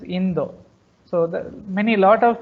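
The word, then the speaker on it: インド: If you say India, they don't know. You have to pronounce as Indo. So lot of pronunciations missing in Japanese language. So they used to say India as Indo.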